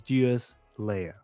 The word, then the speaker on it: Deuslair: world of fuel Slayer I actually did watch the video in order to pronounce this properly so it's Duos Leia go figure all right